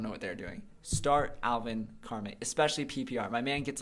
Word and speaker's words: Alvin Kamara: And then for flex, we have Alvin Akamara. Is that how you say his name? I think so. I want to make sure I pronounce this correctly because then I'll look like an idiot. Alvin Kamara.